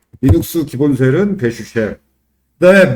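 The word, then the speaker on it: bash: 그래서 이걸 읽을 때 배슈이라고 읽어요. 이스 기본은 배슈.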